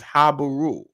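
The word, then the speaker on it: Habiru: However, these people were mentioned in Sumerian cuneiform as the Sagaz, and the pronunciation, according to William F. Albright, is Habaru.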